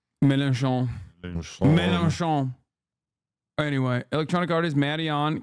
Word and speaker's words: Mélenchon: Mélenchon.